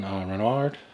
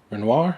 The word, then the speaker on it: Renoir: in The Criterion Collection it's directed by Sean Renard Renoir I should say let me try to get these pronunciations right it's a world war two or